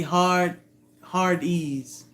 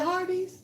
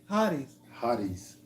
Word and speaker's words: Hardee's: Oh, is it Hardee's? Yeah. Oh, so what do I say? Hardee's. Hard ease. Like a group of pretty girls. They need to rename. They need to respell that restaurant to Hard Ease, just like that. HARDEES. That's how it sounds. If you actually sound it out. Hardee's. Mm-hmm. Yeah, not D's.